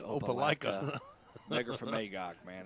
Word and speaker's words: Opelika: ever you kept calling it Opelika oh it's Opelika from Magog man it's a wonderful Lake okay